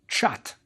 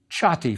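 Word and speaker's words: ṯꜣty: literal and a t so it looks like chhat but it also is sometimes written with a double read which has a y sound so we usually say chatti for this word so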